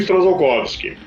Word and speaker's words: Strzalkowski: pronuncia esse sobrenome para tem gente que pronuncia esse t kovsky ou t kovsky ignorando s o pronunci esse eles ignoram bastante letro bom eu aqui pronuncio strzalkowski e é um sobrenome